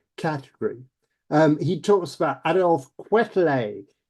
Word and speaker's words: Quetelet: He talks about Adolf Quetelet, Quetelet, if you want to spell it, l'homme moyen.